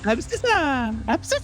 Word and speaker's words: Abscissa: On today's expose, we are talking about abscissa. Right? That's how you say it. Absis.